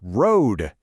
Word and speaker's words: road: All right, the word is road. Hey, look, it's our OA team working together to make that O sound.